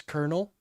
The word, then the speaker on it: colonel: How do you pronounce Colonel? I know, there's no R there.